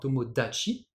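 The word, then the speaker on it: 友達: vu dans le mot tomodachi, qui veut dire un ami en japonais. Alors, effectivement, c'est le même kanji, hein, c'est juste que le ta est devenu da, hein, tomodachi.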